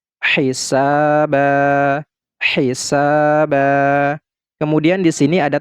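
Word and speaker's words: حِسَابًا: Ini tidak lagi kita baca ban, tetapi kita baca ba, panjangkan 2 harokat. Hisaba, hisaba.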